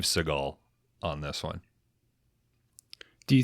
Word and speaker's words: Seagal: to summon him tonight Steven seagull oh I believe it's Steve Seagal on this one do